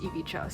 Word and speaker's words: Ivica: I've been calling him Ivica, but it's actually pronounced Ivicha, so I'm sorry.